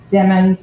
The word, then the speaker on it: Demons: you following capitals and remember demons like rhymes with lemons I know my okay